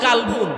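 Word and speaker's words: قلب: কলবুন আর কালবুন দুইটা শব্দ কোরআন শরীফের। কালবুন অর্থ কুকুর। কাফ দিয়া যেটা উচ্চারণ করি।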